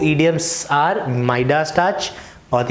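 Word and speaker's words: Midas: सो मिडास touch या माइडास touch, अगर आप कोई अमेरिकन या ब्रिटिशर को प्रोनाउंस करते हुए देखोगे तो you would pronounce it एज माइडास, right.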